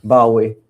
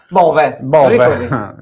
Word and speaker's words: Bove: Come dice che si pronuncia Bowie. Bowie. No, Bovi. Bov, anzi, direttamente Bov. Bove.